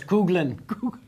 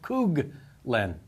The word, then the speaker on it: Coughlin: Cooglin. BPS. I'm lucky enough to win this week. My last name is pronounced Cooglin.